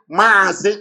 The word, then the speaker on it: Mazi: So to pronounce Mazi Namdekan, they wrote it M-A-A, Mazi. They didn't write M-A, they wrote Mazi.